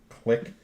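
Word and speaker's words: Clyque: hole with I think the name of the channel is like click it's spelled c-l-y-q-u-e Productions um thanks man I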